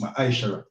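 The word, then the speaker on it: ma'aser: Means tenth in the Hebrew and is pronounced ma'aishara.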